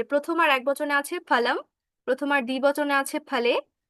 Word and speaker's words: ফল: এখানে ফল শব্দ বলবো আমরা, ফল বলবো না, ফল বলবো না, কি বলবো, ফল। এটা দাঁত থেকে আসবে না বা দাঁতের ফাঁক দিয়ে বের হবে না, এটা বের হবে দুটো ঠোঁটের মাঝখান থেকে, দুটো ঠোঁট একসাথে হয়ে